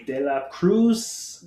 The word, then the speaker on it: Dela Cruz: guest today is and i'm gonna say de la cruz am i saying it right you got it